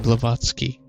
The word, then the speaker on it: Blavatsky: So that's how you pronounce that name, Blavatsky.